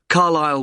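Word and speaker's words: Carlisle: i s l e you don't pronounce the S Carlile way and that's in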